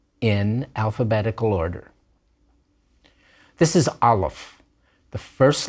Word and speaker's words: aleph: letter of el god this is a silent letter in the biblical period this letter was probably pronounced as something called a glottal stop a little bit like the sound in the middle of the word latin notice that we don't say latin we say latin nowadays aleph is not pronounced at all we're going to learn